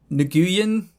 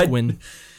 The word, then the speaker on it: Nguyen: I think it's Gwyn. Gwyn, really? Or Win, maybe. I think it's just Win, actually. That's how you pronounce it. Win. I'm not an expert, so don't quote me on that.